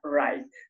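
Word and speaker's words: write: sus cuadernos thiago noviembre pero se pronuncia right o keith wright cuando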